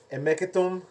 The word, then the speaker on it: Hemeketum: The H is kind of silent. You would pronounce almost like if you're thinking about like half of the H in a way. So instead of like the H, Hemeketum, you'd be like Hemeketum.